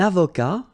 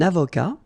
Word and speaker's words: avocat: Un avocat, so remember, liaison here, and then final T not pronounced, okay? Un avocat.